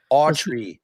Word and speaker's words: Autry: Quit saying Autry. Quit saying spelled with a U. So, what is it? Like Gene Autry, the cowboy. Autry. There's no L.